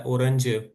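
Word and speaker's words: Orange: Spelling एक ही है लेकिन इसको अपना आपने ऑरेंज पढ़ना है, ऑरेंज।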